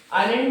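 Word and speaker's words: island: आइलैंड में S silent है, आइलैंड दिखेंगे, क्योंकि इंडिया के पास देखा जाए तो 1382 आइलैंड है।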